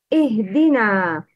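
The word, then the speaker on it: اهْدِنَا: Make sure to pronounce ha with sukun without kalkala. Please repeat. Ihdina. It's ih. The wrong is ihdina.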